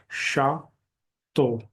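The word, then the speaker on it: château: मिलेंगे French language में जैसे यह स्पेलिंग है श तो मींस कैजल शा तो शा तो अगर य नहीं भी हो तो अ स्पेलिंग श तो ही होगा प्रोनंसिएशन सेम रहेगा श तो तो ये कै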